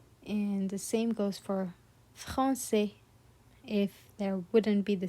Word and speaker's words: français: And the same goes for français. If there wouldn't be the sédaille, we would pronounce it as franquet, franquet. But because there is a sédaille, we say français.